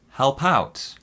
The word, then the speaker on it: help out: that was this one help out help out that means to assist to help now this one here our stresses on the second syllable help out help out the next one that